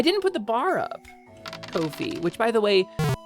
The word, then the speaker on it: Ko-fi: Ko-fi, which by the way, apparently is pronounced Kofi. It rhymes with no fee.